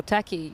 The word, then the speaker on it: Taki: Well, Taki, you can rhyme with a lot of things.